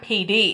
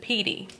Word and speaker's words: Petey: Like her nickname is Petey, but I've been calling her PD. Like I've been like breaking it, making it choppy when it's not PD, it's just PD.